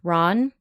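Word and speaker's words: Ran: also Akira kurasawa 1985 I believe it would be pronounced Ron because it's Japanese so R A an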